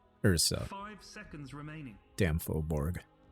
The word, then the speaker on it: furbolg: five seconds remaining damn fullborg full bog herbal i'm not even sure how to say it anymore i can't speak let me see here is it for bulge or fur bog it's a furbolg yup it's a furbolg